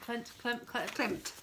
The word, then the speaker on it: Klimt: Klimt, thank you.